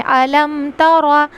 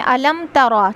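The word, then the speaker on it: أَلَمْ تَرَ: अलम तरा अलम तरा मीम साकिन का इज़हार होगा यहां पे हमें बगैर गुना के पढ़ना है अलम तरा इसकी करेक्ट प्रोनाउंसिएशन है अलम तरा। ठीक है? अगर हम यहां पे गु्ना कर देंगे मीम के ऊपर अलम तरा तो ये गलत तरीका होगा।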